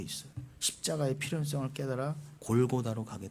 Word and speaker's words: 골고다: 십자가의 필요성을 깨달아 골고다로 가게 돼 있다는 것이. 골고다, 굴굴타라죠. 골고다의 뜻이 뭐다? 굴굴타, 해골에 언다는 뜻이에요. 굴굴타라고는 아람어를 우리식으로 발음하는 게 골고다예요.